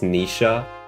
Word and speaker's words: Noish: I found out Noish from FE4 translation is pronounced Nisha, and my world is upside down now.